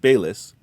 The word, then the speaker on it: Baylis: This leads us to today, where we have Frank Baylis, pronounced Bay, like the store or the body of water, and Liss, like lisp, but without the P and without a lisp.